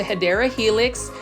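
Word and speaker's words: Hedera helix: in a while um this is the hyera Helix that's the correct way to say it and if you are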